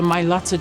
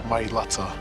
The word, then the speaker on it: Mailata: sibling, knowing that they've changed the Mailata generation forever? That's the correct way to say it, guys. Mailata on the back of the jersey for the world to see.